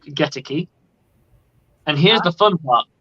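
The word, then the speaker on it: Goedeke: And it's not Luke Gedeke. It's Luke Geteke.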